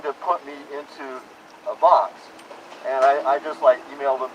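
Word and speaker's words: BACS: and the way that Box operates. B-A-C-S, I pronounce it Box.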